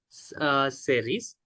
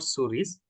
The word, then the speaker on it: cerise: And blueberry, cherry, yun cerise. Actually, it is cerise. It is not suris.